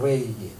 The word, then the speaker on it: 레위기: 때문에 그래요 여러분 그 레위기 그럴 때는 그 알 사운드 발음을 해야 거의 정확하거나 레위기 근데 그냥 편안하게 발음하면